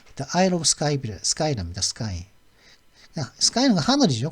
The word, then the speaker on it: Skye: Skye는 하늘이죠. 근데 하늘에다가 이가 붙었는데 발음은 Skye라고 합니다. Disputed 하면 뭐 분쟁거리가 있는 뭐 이의 지역이 되니 거죠.